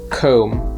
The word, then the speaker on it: comb: with the name tom comb is pronounced with an om so it rhymes with the word home tomb is pronounced with